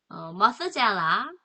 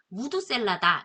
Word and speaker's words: Methuselah: 머스젤라 요 이름은 우리가 무두셀라다 이렇게 많이 들었던 이름이에요. 원어 발음은 머스젤라.